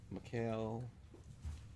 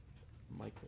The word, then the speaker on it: Mikal: Spot 180, Mikal Bridges of the Suns. Michael, I don't think it's Michael. I think it's Mikal.